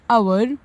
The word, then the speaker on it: hour: Now question number three, write any three words in which the letter H is silent. So the answer is honest, honor and hour.